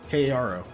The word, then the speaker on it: Karo: is where's my list of random names Caro Karo say that again k a r o Caro